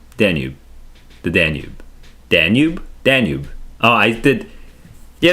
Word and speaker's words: Danube: I uh, yeah, like the Danube River. Is that how you pronounce it?